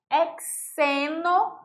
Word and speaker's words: hexeno: Nós temos o ciclo hexeno. Olha a diferença na pronúncia. Hexeno. Diferente de hexano.